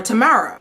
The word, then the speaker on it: Tamara: turbo is back and turbo brings Tamara or Tamara that's how you say it's tomorrow at first I thought